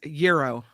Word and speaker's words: gyro: Oh, by the way, Andreas sends us a pronouncer. He says gyro.